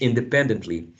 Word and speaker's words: independently: a calling that runs independently independently independently so the third syllable would be the stressed right independently complex word